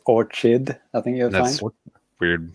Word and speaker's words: Orchid: I was going to say, what you Americans pronounce it wrong. It's Orchid. I think you'll find. Weird. It's a weird thing you just said. It's weird. I thought it was Orchard, but whatever.